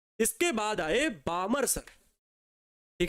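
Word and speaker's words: Balmer: लिखने में आसान रहता लेकिन एल साइलेंट है तो बामर सीरीज प्यारे बच्चों जैसा कि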